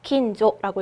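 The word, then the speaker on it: 近所: 자주 헷갈리시는 게 마지막을 어떻게 읽어요? 짧게 읽을 거예요. 긴조라고 읽으시면 됩니다.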